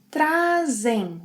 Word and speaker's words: trazem: Vocês, eles, elas trazem with a z sound. Trazem, trazem. I always bring my cell phone.